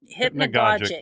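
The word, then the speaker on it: hypnagogic: o g i c hypnagog hypnogogic it rhymes with logic but it's not uh that's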